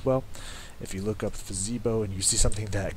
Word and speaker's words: Fezibo: I've heard people pronounce it differently. It's F-E-Z-I-B-O. I like to say Fezibo because it sounds awesome. So if that's not how you pronounce it, it should be.